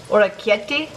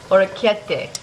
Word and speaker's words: orecchiette: Orecchiette. Am I close? Orecchiette. I can't roll the R very well, but I know it's not a CH.